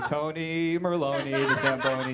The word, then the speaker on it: Merone: to call me that because Tony merone rhymes with samboni which is the machine that